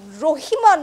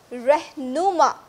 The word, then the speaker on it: রেহনুমা: শুনতে পাচ্ছি বলুন উফ আমি রহিমা নই আমার নাম রেহনুমা রহিমা আমি আপনাকে স্পষ্ট শুনতে পাচ্ছি আপনি বলুন আমার কাছ থেকে কি জানতে চাচ্ছেন উদাস বিপ্লব আপনি আমার নামটা সঠিকভাবে উচ্চারণ করুন আমি এই চ্যানেলের ডিরেক্টরের